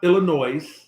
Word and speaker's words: Illinois: number one it's not illinois don't pronounce don't don't pronounce the s y'all chicagoans it's not prairie it's